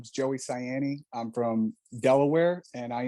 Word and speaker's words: Saienni: your last name correctly yes it's cyani it's italian s-a-i-e-n-n-i but most people can't pronounce cyani so that's why i'm